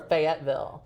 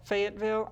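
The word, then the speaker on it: Fayetteville: race in feville Arkansas well fville does it faville or Fayetville Fayetville okay it's the accent I think you like I can spell it I love it I do love the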